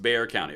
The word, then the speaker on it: Bexar County: that reference good movie It's pronounced beay County okay fine I'm gonna go with it Bear County I trust all of